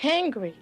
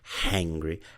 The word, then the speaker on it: angry: pronunciation and grammar errors she had some trouble with the H sound she couldn't say angry angry she was saying hangry hangry too much H so she's obviously worked